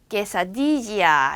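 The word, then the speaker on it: quesadilla: 여러분들 약간 스페인어권에 관심을 가지면 깨사디아라는 아주 맛있는 또르띠아에다가 치즈를 막 얹은 요리를 먹어보신 분들이 있을 텐데 그것도 이렇게 QUE가 적혀 있어요. 쾌가 아니에요. 깨사디지아 이렇게 읽어야 돼. 깨사디지아 아시겠죠?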